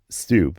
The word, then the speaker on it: stoop: sidewalk itself but uh the word is stoop it's spelled St o